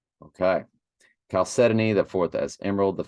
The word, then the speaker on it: chalcedony: I can't remember chalcedony I'll set an eight chalcedony okay chalcedony the fourth as Emerald v as sardux the